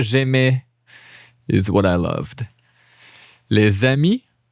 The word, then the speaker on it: les amis: Les amis. And notice here I do les amis. Les amis, there's like a little link here that does like a Z sound.